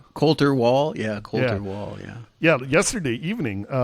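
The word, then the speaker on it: Colter Wall: Uh well uh thank you for sending me the link to uh how do you pronounce his name? Coulter Wall Cter Wall.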